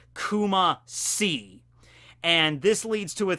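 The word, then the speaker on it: Kumacy: And Kumashi is not spelled with S-H-I, like she, as in death. No, it's literally the letter C. Kuma-si.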